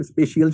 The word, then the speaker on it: spatial: अब देखो असल में स्पेशल स्पेशियल शब्द है और उसमें कई लोग उसके उच्चारण के वैसे गड़बड़ करते हैं।